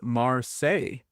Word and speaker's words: Marseilles: It is Marseilles. It is Marseilles. Oh, because it's spelled differently.